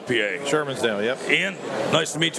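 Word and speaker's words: Shermans Dale: from I don't want to say it right Sherman's dale PA Sherman's daily yep yeah nice to meet you boss you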